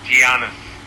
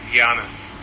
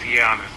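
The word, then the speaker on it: Giannis: one problem and that's the way you say my name is not gianis it is Janis just yanus not gianis thank you I have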